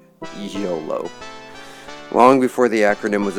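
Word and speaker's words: Iolo: when I was younger I originally pronounced his name IO I pronounced it dpri shamino and IO but it's dpre shamino and YOLO long before the acronym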